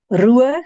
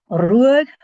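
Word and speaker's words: Ruadh: Ruag, you want to roll your R's. Ruag is a brownish red,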